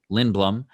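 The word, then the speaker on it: Lindblom: and we know that oscar lindbl lin blum lin blum i did say it correctly um won that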